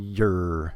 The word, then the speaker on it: you're: vowel when your but most of the time we don't say any vowel just a y and the r sound very simple when you're you're and you'll have